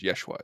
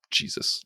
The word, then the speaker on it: Yeshua: And I side note, I really appreciate that they pronounced it properly, that it was Yeshua, not Jesus, like not this Anglico way of saying it.